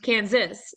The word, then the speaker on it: Kansas: Okay, which is not the same as Kansas. Kansas is pronounced Kansas, but this is pronounced Arkansas. Bill Clinton is from Arkansas, for example.